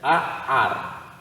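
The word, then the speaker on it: נער: Nós temos também esta outra palavra aqui embaixo, que seria Aar. Percebe? Duas letras que não pronunciamos. Aar.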